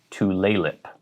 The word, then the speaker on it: Tulalip: but it is tulip emphasis on the second syllable to laylip there's an indian reservation